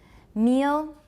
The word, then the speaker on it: meal: fouls has a little schwabe for it sometimes meal meal can you hear it meal but dark